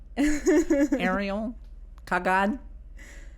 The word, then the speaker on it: Ariel Kagan: name pretty good how do you say it Ariel Kagan you say pretty good nice a lot of people mispronounce it all the time Ariel Ariel Kagan well thanks for having me we're talking comedy